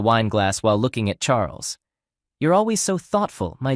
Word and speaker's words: Charles: glass while looking at Charles you're always so thoughtful my dear husband she replied Charles pronounced the French way as charl looked like typical Euro